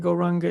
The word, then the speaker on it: Gauranga: We will use the mantra Gauranga, and we will divide Gauranga into 4 syllables, Go, Ra, Ang, Ga.